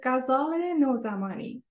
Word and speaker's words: Ghazaleh Nozamani: you introduce yourself please okay my name is Casale nozamani so welcome now you we were here to